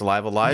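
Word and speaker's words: Live A Live: Now, I don't know how this is pronounced, but Live I know Alive. that Jared Petty, it's Live Alive? Yes. All right, so 1994's Live Alive is getting a remake.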